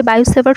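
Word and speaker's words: Biot–Savart: আমাদেরকে বের করতে হবে বায়োসেভার্ট সূত্র থেকে তো বিজ্ঞানীর নাম হচ্ছে বায়ো সেভার্ট তো বাংলাতে টি উচ্চারণ করা হয় না তো বায়োসেভার্ট তো বিজ্ঞানী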